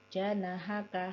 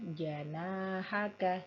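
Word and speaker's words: جناحك: huruf d kemudian janahaka di sini ada huruf mad yaitu Alif Alif yang sebelum nya didahului dengan huruf harakat fathah maka dia tebal Nah tadi Pak jenengan membacanya pendek janahaka harusnya janahaka seperti itu lanjutkan in iya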